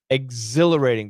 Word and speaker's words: exhilarating: Exhilarating. H is silent. Exhilarating. There's no H.